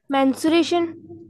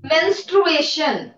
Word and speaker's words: menstruation: बोलिए माइक ऑन करो और जोर से बोलो मेंसुरेशन मेंस्ट्रुएशन मेंसुरेशन मेंसुरेशन तो मैथ्स में पढ़ते हैं हम इट मेंस्ट्रुएशन स्पेलिंग ठीक करना है यस नेक्स्ट स्टूडेंट हाजी